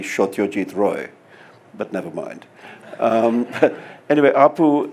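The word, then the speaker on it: Satyajit Ray: Bengali is Oh poo in the way that such a deed ray is actually shot your teeth Roy but never mind anyway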